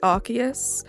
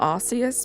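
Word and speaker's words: Arceus: to go by but can we all agree that it's archus and not arus please can we all agree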